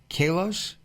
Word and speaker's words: Kalos: The name of your company, okay, Kalos. Am I pronouncing that correctly?